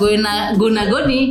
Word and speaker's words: Goena Goni: Tapi bacanya apa? Iya tetap Guna Goni.